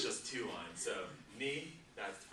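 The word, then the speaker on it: 二: So ni, that's the pronunciation for it.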